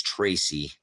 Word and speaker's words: Tracy: guano crazy but uh my name is Tracy and that rhymes with crazy and Spacey and so I've always